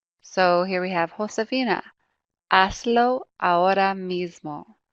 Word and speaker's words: haz: So we have haz, remember that H is silent, haz, se, and ve.